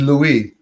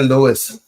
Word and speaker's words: Louis: Well, L UI S in France is Louie in and the the Americans say Lewis. But but Louis, L UI S is what? Lou. Lou. Right. Louie. Right. Because the S is silent.